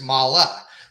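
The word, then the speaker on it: Mahle: are two mollies well there's actually mali and there's mala right so mali motorsports that's how everybody pronounces it mala is the parent company they make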